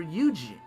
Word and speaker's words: Eugen: The Grand Cipher sails to Auguste Isles, where Eugene, another crewmate, has been away on a mission. Or is that Eugene with a silent E, or non-existent?